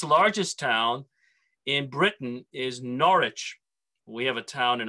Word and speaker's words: Norwich: see the name spelt it's not norwich it's norwich the w is almost silent and it was the